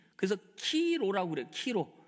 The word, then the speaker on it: 키로: 왜 키로냐? 크리스토스 할 때. 예, 크리스토스의 첫 음절, 두 번째 음절이 예, 키로예요. 키로.